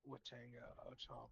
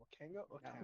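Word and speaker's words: Wakanga O'tamu: Well, I think I've been pronouncing it. It's a Wakanga Otamu. Otamu. Yeah. Wakanga Otamu. Wakango? I'll get this pronounced. Wakanga? Oh. I wrote it down wrong. No, I mispronounced it before. I kept adding a T for some reason.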